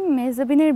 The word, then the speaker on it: মেহজাবীন: আসলে আমার নামের উচ্চারণটা হচ্ছে মেহজাবী, ন বা এন এটা হচ্ছে গিয়ে সাইলেন্ট, সো ইটস মেহজাবী, আর এটা অর্থ হচ্ছে যার মুখ চাঁদের মতো।